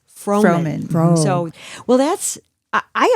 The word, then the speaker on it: Froman: And then Froman is my maiden name. So, FR O like Fro and then man, M- an AN.